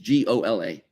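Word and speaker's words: גולה: Exile and redemption in Hebrew is Gola. Gola, Gola means exile.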